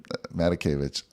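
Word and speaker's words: Matakevich: and again i always say his name wrong matakovich did i get that right did i say it right yeah all right matakovich and it really comes down to you know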